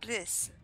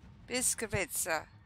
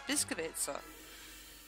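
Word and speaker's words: Błyskawica: Twitch stream on Wednesday, it's not pronounced bliss, it's bis, biskavitsa. The L is silent. Which is quite interesting. La bataille commence. Yeah, but bliss sounds better. Yeah, because that's what it looks like to us. But yeah, no, the L is silent, it's biskavitsa.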